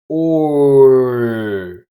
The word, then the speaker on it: Ö: Say the German letter O and keep your lips in the same position, rounded. Now, slowly lift your tongue towards the front of your mouth. Ö.